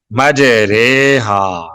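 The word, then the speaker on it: مَجْرٖىهَا: ری نہیں کریں گے, اس کا تلفظ کریں گے مج ریحا, مج ریحا, رے. اس کا جو را کی کھڑی زیر ہے اس کو مجہول پڑھیں گے, معروف نہیں پڑھیں گے, اس کو مجہول پڑھیں گے.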